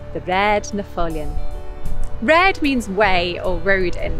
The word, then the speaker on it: Raad: in this name too often when you see a double a in manx like in red you get an a sound in the middle of